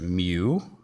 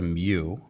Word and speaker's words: mu: called the coefficient of static friction this is pronounced mu it's not a you it's a mu so this is a coefficient of static friction